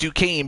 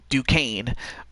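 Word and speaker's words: Duquesne: e s n e Duane I mean it it's spelled that way but it's pronounced Duane I may as well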